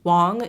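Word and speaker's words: Wang: So it is pronounced Wong, even though it is spelled with an A, W-A-N-G. But I tell people, like, how would you pronounce a magic wand? It's the same idea. So instead of W-A-N-D, it's W-A-N-G. Or you can think of it as an O instead of an A.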